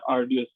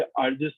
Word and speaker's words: arduous: Number 10 हमारे पास है आर्डियस। ठीक है, इसकी प्रोनाउंसिएशन वैसे आर्जियस होती है, ARDUOUS।